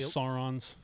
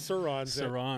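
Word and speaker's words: Sur-Ron: looks like the motorcycle electric motorcycles okay the saurons sirons exactly so um so Sauron like uh Middle Earth yeah yeah so I pronounce it wrong so they're called sirons and we started you know and we ride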